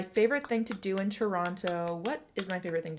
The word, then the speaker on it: Toronto: knows I live in Toronto, Ontario, Canada. Also known as Toronto. If you pronounce two T's in the Toronto, you're not from here.